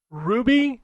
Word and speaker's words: RWBY: Ruby, I think is how you pronounce it, Arrowfell, that RWBY series.